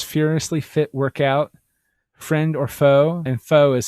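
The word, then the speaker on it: faux: Cher Negotiates New York, American Betty in Paris, Achieving Personal Perfection, Cher's Furiously Fit Workout, Friend or Foe, and foe is spelled like F-A-U-X.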